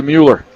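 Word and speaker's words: Moller: Inbounds pass to Mueller. Spelled M-O-L-L-E-R, but pronounced Mueller.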